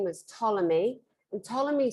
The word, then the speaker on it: Ptolemy: name was ptolemy and ptolemy spelled with it with a p t ptolemy it's greek because when